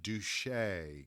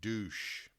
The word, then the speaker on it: Duche: But her name is Doreen Duche. Get it? Oh, no, I didn't. If you don't pronounce it correctly, it would be Doreen Douche.